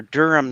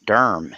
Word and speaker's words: Durham: that is awesome now how is durham pronounced differently in england well i think we tend to joke around and pronounce it durham here right one syllable i have to say